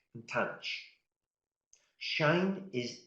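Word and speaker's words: tanh: And the last one, I pronounce it as tanch.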